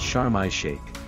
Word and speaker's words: Sharm El Sheikh: Often abbreviated to Sharm, in Arabic it's pronounced Sharm El Sheikh. The Sha is a sun letter that absorbs the preceding L.